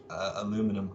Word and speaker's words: aluminum: so both aluminium and aluminum are correct um so it's just a it's just a regional variance in the way it's actually pronounced yeah you never thought